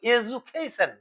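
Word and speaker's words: education: আমরা এখন উচ্চারণ মডার্ন মডার্ন ইংলিশে এরকম এজুকেশন, এজুকেশন বলা হয়। এডু আর বলে না, এ বর্গে জয়সৌ, এজুকেশন, এজুকেশন।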